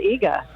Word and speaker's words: Iga: It is Betrayal at Iga. Okay, thank you. Wow. See, and Well, you were sometimes right. I'm never Absolutely. sure. Is that the same way the grocery store chain is pronounced?